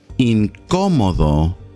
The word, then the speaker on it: incómodo: The word uncomfortable in Spanish is incómodo or incómoda. Let's say it again. Incómodo. See where you got that little accent on top of the O? That's for emphasis. Incómodo.